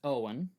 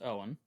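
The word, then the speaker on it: Eoin: n that's the first name okay that is Owen that's pronounced Owen o apostrophe f a o d h a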